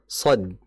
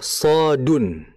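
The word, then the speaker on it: ص: Tapi kita dalam membacanya bukan sh bukan. Tapi kita membacanya sesuai dengan ejaannya. Apa itu ejaannya? Maka disebutkan ejaan ini adalah hurufi wuj. Ejaannya itu ada yang tiga huruf. Contoh shad. Shad itu ejaannya apa? Shadun. Shadun.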